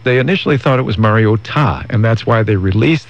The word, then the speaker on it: Mariota: to the mainland pronunciation but Marcus said it was Mariota not Mariota but you still have to get the time there but Mariota but many including the duck announcer is still saying Mariota and but those of